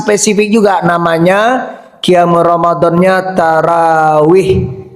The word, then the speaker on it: tarawih: Qiamnya ada yang khas spesifik juga namanya qiam ramadannya tarawih. Sebenarnya bacanya bukan tarawih tarawih. Ro itu kan fathah, tapi kita tarawih. Kita bilang bahkan tarawih ya enggak apa-apa ya.